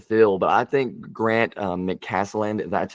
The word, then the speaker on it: McCasland: But they had a lot of guys to fill, but I think Grant McCasland, that's how you pronounce his name.